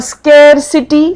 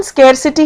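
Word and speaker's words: scarcity: और स्केसिटी। स्केयरसिटी मतलब होता है कमी हो गई है किसी चीज की। इसकी प्रोनाउंसिएशन स्केरसिटी है। जबकि बहुत लोग इसको स्क्सिटी स्क्सिटी कहते हैं वो नहीं है।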